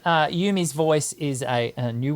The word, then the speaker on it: Eumee: I wanted to pronounce that correctly. Yumi.